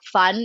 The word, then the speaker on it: van: dad's side especially and the v in dutch is pronounced like an f huh so whenever you